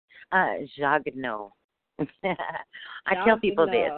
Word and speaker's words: Jagneaux: I tell people this, like I'm kind of chubby, and so I say no Jagneaux. You can say it like that, Jagneaux. That's the American way to say it, Jagneaux.